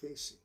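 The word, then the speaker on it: Cayce: no no Jim Ketchum says stay kitten Edgar Casey Casey there it is says China is eventually going to be the major force of Christianity in the world interesting edri Casey was a clairvoyant sometimes he would is compared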